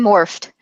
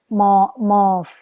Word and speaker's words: morph: No, we pronounce the PH like an F.